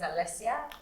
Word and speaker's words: Alessia: So what I say all the time when I'm in Nigeria running any event, my name is Alessia, no X.